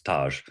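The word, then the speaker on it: Tage: your American hockey player Taj Thompson or TA depending on how you pronounce it. It's Taj.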